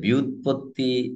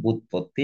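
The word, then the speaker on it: ব্যুৎপত্তি: হয়েছে দেখো কইতে পারবা এই বানানে দেখো জ ফলা রসুকার আছে কিন্তু ওই জ ফলাটা উচ্চারণের কোন ভূমিকা পালন করছে না তোমরা কি বিষয়টাকে অনুভব করতে পেরেছ জি স্যার যে বিউৎপত্তি এমন করে হয়তো বলা যেতে পারে তাকে কিন্তু আমরা সেটি বলি না ব্যাপারটা ধরা গেছে কিনা সেটাকে আমরা বলি বুৎপত্তি একেবারে জ ফলা উচ্চারণের কোন ভূমিকা পালন করাই না নিয়মটাই এরকম এটি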